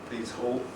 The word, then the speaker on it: Pease Hall: um it stood near pease hall which is spelled by peace pudding pieces hall peace hall and it was a